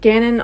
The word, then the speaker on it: Ganon: Ganon. Like Canon. Mhm. Um Ganon also wrote a textbook case study on the subject.